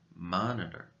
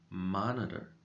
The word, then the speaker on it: monitor: first syllable you're correct the stress goes on mon so this part of the word should be pronounced with a little bit more volume monitor monitor now let's take a